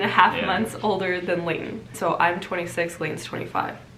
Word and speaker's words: Leighton: It's Layton. Layton is how like, you would say it. Like the Lay's potato chips.